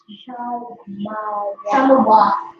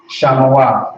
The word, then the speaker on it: Shamawa: If you're having trouble reading the Hebrew, you just got to break it apart. So you got the Shah, you got the Ma, and then you got the Wa, but there's no A at the end, so it would be Wa.